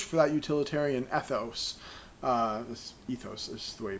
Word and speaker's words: ethos: I really push for that utilitarian ethics this ethos is the way you pronounce that word because I think that it